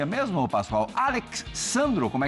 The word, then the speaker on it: Alex Sandro: E aí, como é que se e pronuncia mesmo, Pascoal? Alex Sandro. Como é que é? É Alex Sandro.